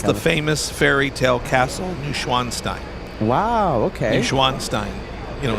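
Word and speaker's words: Neuschwanstein: there tell me the name of it again new schwanstein NW s c h w a n s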